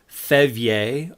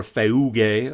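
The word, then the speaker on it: φεῦγε: and Mary to flee, Thevye, according to the modern Greek, or Feuge, according to the Erasmian pronunciation, into Egypt.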